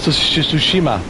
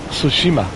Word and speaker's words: Tsushima: way he said I love it uh goes toshima tsushima yeah tsushima yeah tsushima that is the best